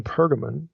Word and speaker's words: Pergamon: a a place specifically in pergamon or pergamum okay you see it pronounced either way and spelled either way in verse 13 so